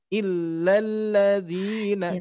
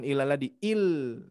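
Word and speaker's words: إلا الذين: Terus hati-hati di sini Bu, illa tasdid, illalladzina. Coba sedikit di sini. Illalladzina. Satu kali lagi. Nah, bukan ilaladi, Illalladzi. Itu Bu ya. Jadi diucapkannya tidak ilalladzi tapi illalladzina karena tasdid.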